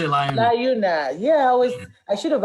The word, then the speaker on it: LIUNA: Is that Liuna? Liuna, we say Liuna.